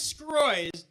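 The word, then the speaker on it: Sgroi: My name is Scroy. That's my last name. It really is. It's only 5 letters. It's spelled S-G-R-O-I.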